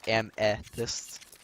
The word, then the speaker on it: Amethyst: Yeah, I know I say Amethyst weird. I'm from the Midwest, so we put a hard accent on the E, so it's am instead of amma. It's Amethyst. At least here, anyways.